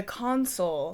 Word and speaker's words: consul: Different word from council. The consul, spelled C-O-N-S-U-L. I'll try my best to differentiate the pronunciation enough.